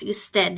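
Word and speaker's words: usted: them in writing that can be spelled UD but it's still pronounced you stead it's just abbreviation use then e 2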